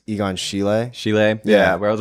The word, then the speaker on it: Egon Schiele: I don't know how to pronounce it. Yeah, I think it's Egon Schiele.